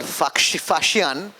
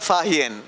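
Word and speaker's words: Faxian: But so much so, you had here a man called Fashian, who we earlier called Fahian in history books.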